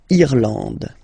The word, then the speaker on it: Irlande: Okay, A-N, en, D, and final E, not pronounced. Irlande.